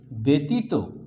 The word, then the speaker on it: ব্যতীত: ব্যতীত বৈজফলা তয় দীর্ঘিত ব্যতীত, এটাকে আমরা উচ্চারণ করছি ব্যতীত।